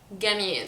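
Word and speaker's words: جميل: So I would give an example, jamil, which means beautiful or handsome. I would say handsome. It is pronounced gamil, so every j sound is transformed to g sound.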